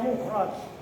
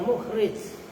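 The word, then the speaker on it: مخرج: almasna dua almukhraju makanya mukhraj kenapa menaf ini mustasna kan Isim maf'ul maka ini pun bacanya mukhraj bukan mukhrij ngerti tahqon au takdiron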